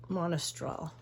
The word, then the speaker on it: Monastral: If I mix the Veridan and the Monastral. Monastral's how you say it.